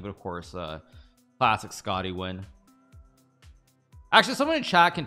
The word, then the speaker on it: Nguyen: You do pronounce it like win.